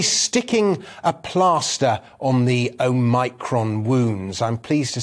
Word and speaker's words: omicron: a plaster on the omicron wounds i'm pleased to say that i finally discovered the correct way to pronounce oh micron there was me thinking it was omicron but it is in fact o micron so we turn